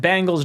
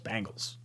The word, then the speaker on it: Bengals: if the Chargers and Bengals don't want to pay their quarterbacks Bengals Bengals Bangles I always say that name wrong Ben gals the Ben gals that's a weird way